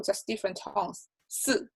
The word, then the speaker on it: 四: 四, falling tone is number 4.